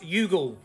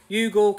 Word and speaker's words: Youghal: Cork it's a beach resort and it's uh pronounced yugul yugul County Cork nice little Beach Resort get yourselves